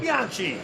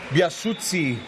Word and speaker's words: Biasuzzi: Biasuzzi, not Bianchi. I think maybe in Italian the double Z is a TZ or a TS pronunciation, so Biasuzzi.